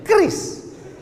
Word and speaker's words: QRIS: Cara bacanya gimana sebetulnya? Kris.